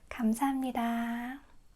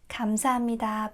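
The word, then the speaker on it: 감사합니다: Kamsahamnida.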